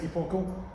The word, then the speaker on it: Epochal: There's a few, I mean I don't like how people pronounce it. I say Epochal, but say what you like.